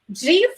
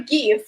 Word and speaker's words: GIF: so it is like um GF or GIF yes so no one knows exactly so but I did a research and of course uh what I found out is that there are two correct pronunciation so two variants how to pronounce this word correctly even if you consult